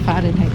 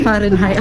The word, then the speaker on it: Fahrenheit: Ang lamig guys, naka 28 degree Fahrenheit ngayon. Fahrenheit. Yeah. Sabi ko dati Fahrenheit. Akala ko silent T guys.